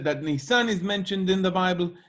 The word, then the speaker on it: Nisan: Nisan is the name of the car company, Nisan, with the accent on the Nisan. last syllable.